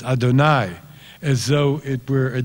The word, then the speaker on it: Adonai: And the Hebrew, of course, as most of you know, is odd because it's written Yud He Vav He, but Jews always pronounce it as Adonai, as though it were